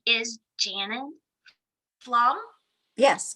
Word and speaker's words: Pflaum: She has the cowgirl spirit, and her name is Janet Pflaum. Yes, correct. Okay, I want to make sure I'm pronouncing it correctly because our names are so important.